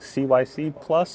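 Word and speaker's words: CYCPLUS: plus Bluetooth that's right you pronounce it exactly like Cy C plus but either way it's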